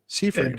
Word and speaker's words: Seifried: Just to be clear, your last name is Seifried, right? Correct, and Seifried. very good for pronouncing it correctly.